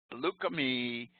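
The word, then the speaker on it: Lukumi: Lukami Babalu Aye Inc., City of Hialeah.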